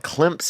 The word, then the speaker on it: Clemson: walls there you have Clemson you know they pronounce it with a P in it but it didn't even have a PA and Clemson but they call it clumps and yet if you